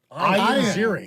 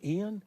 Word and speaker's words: Ian Ziering: Ian Ziering. It's not Ian. No. So you're telling me since I